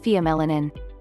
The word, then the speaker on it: pheomelanin: basic black via melanin via melanin pronounced pheo melanin is the gene that